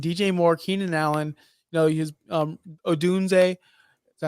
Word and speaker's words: Odunze: And you're talking DJ Moore, Keenan Allen, his Odunze. Is that how you say his name, Justin? Yep. See, I know how to pronounce names.